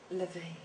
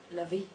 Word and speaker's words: LaVey: In terms of the pronunciation of my name and my surname, I can do it Lavey, or I can do it Lavey, or I can do it Lavey.